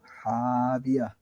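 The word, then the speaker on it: هاوية: এটা সহি হবে ফা উম্মুহু হাবিয়া 1।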